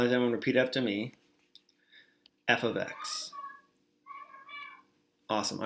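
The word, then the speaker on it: f(x): mean right okay well this f parenthesis x is actually said as f of x so why does everyone repeat after me f of x awesome all right say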